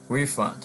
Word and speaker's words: refund: As a noun, refund. Okay, we stress the first syllable, refund.